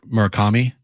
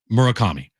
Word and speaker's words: Murakami: So, it is pronounced Murk It is pronounced the way I've been saying it? Yeah, it's Taka. Murk Murakami? Yeah, you got the last name. Okay. Murakami. Murakami.